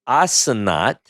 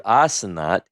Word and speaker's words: Asenath: Her name is Asenath. Is the way we pronounce it in Hebrew, Asenath.